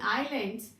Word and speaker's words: islands: In islands, S is silent, children.